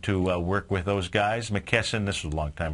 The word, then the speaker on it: McKesson: oh mcken geez okay now I know who McKesson is so just had to pronounce it properly so McKesson they are a